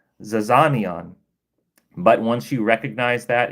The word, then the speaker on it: zizania: Zizania. Zizania, right?